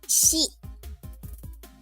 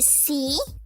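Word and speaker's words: し: me move it okay we have she not C but she okay okay not C but she she so it is written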